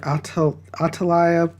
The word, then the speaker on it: Athaliah: Some pronounce her Athaliah, but I'm pronouncing her Athaliah.